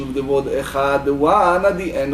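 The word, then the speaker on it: אחד: So he said that you have to vocalize the Cha, the Ch, the Shva, intent of Kamatz, Ch, Echad, right?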